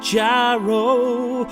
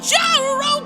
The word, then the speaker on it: gyro: to get get a gyro although it's technically pronounced hero although I still want to call it a jyo cuz it sounds cooler stomach dude you going